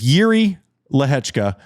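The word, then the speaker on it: Jiří Lehečka: more credit to Yuri don't you dare pronounce that Jay it is yui leka uh played great maybe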